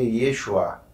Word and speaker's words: Yeshua: que é fora mais jesus se pronuncia yeshua então hoje se fosse